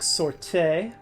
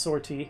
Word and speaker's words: sortie: episode with uh quick sorte pretty sure that's not how it's pronounced sortie I'll just call it